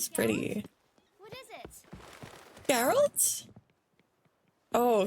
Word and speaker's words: Geralt: Geralt. Oh, his name is Geral. Geralt. That's how you pronounce it. I thought it was Geral or something.